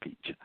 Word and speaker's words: Pietzsch: then you'll see Robert Beach it's pronounced peachy yes and the video